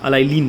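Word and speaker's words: allylene: मैं लिख देता हूँ यहाँ पर स्पेलिंग, अगर आपको नहीं समझ में आ रही होगी तो एलाइन मिलेगा, एलाइलीन मिलेगा, एलाइलीन बोलिए, एलाइलीन होता है।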